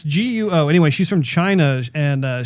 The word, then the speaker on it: Guo: Tina, I think her last name is pronounced Guo. It's Guo.